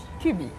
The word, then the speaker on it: Kübbii: Cubi, Est-ce que je prononce bien?